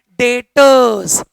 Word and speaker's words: Debtors: Define किया जाता है डेटर्स। B silent.